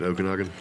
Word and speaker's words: Okanagan: of good stuff to eat here in Lake Okanagan okay okay how do you say it Okanagan okay yeah yeah so I'm sure people go